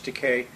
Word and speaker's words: Takei: Well, what people want to know, they're seeing me sitting here with you, George Takei, and they say, well, George introduced you a